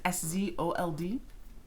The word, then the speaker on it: Szold: That's a quote from Henrietta Szold, I think is how you say her last name. It's Szold.